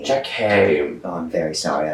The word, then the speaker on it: Jackie: Is it Jackie or Jackie? Jackie.